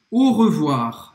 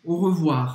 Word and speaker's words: au revoir: Eu acho que ela não pronunciou nenhum dos dois R's. Au revoir.